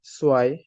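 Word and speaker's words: zwei: সো ওয়ান কে আমরা বলবো আইনস, সোয়াই। টু কে বলা হয় সোয়াই, সোয়াই।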